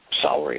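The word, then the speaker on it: Sellery: And I remember walking into the common ground, the common area of Celery Hall it was. It's spelled with an S. It's not celery like you eat, but it sounds the same.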